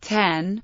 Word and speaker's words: OS X: and mac OS 9 the letter X in OS X's name refers to the number 10 a Roman numeral it is therefore correctly pronounced 10 TN in this context